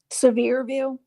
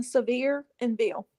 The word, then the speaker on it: Sevierville: right there how do you say it again severe View the name of the town yeah how do you say it uh severe and Bill Sevierville it's rough right there near Pigeon Forge